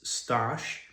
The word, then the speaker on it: Stash: So, my name is Stash and Stash rhymes with Ashkosh Bagosh.